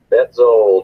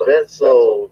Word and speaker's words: Betzold: Betzold. Betzold. It sounds like it's spelled there.